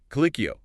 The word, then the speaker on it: Colicchio: And just so everyone's clear, the name Kikio, pronounced K O is L.